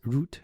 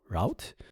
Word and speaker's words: route: For me, it's easier to pronounce it as route instead of route.